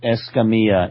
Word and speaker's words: Escamilla: Right, Escamilla. Escamilla. The two L's are pronounced like a Y.